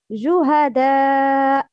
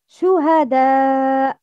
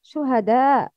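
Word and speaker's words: شهداء: The first one, Juhada. The second one, Shuhada. Which one is the second one? Shuhada.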